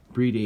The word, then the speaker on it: Bride: using uh with the the bre day or the bride lomax breedi is i think how you're supposed to pronounce it um we've um we